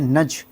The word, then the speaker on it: nugget: Square या फिर नज, हम इसको प्रोनाउंस करते हैं नज। टी का यहाँ पे कोई प्रोनाउंसिएशन नहीं होता, इसको नज बोलते हैं, NUGGET, नज।